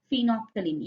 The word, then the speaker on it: phenolphthalein: It is phenolphthalein. L is silent.